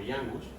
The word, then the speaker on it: ñangos: Hay una palabra indígena caribe que no se escribe así, se escribe con ñ, esto sí, Como sí, la ñangos. escribe con ñangos, Ok. pero se pronuncia más o menos así, como yangus.